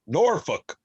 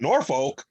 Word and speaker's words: Norfolk: and the man said that's how you say it norfolk and i looked at it and went norfolk whoa it's norfolk norfolk norfolk exactly you're exactly right and